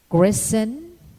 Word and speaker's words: christen: In word spelling, the alphabet letter T is silent when preceded by a letter S in the terminations TEN and TLE, as in moisten, listen, christen, bristle, or whistle. It is silent also in often and soften.